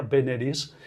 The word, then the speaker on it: veneris: Pues bueno, de este veneris, tenemos que pensar que es una palabra esdrújula, la pronunciación no engaña, veneris, y que la primera